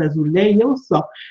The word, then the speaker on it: azulejos: Je vous laisse apprécier l'utilisation des azulejos, la prononciation à la portugaise, azulejos, ces petits carrés de faïence, souvent bleus, mais pas uniquement.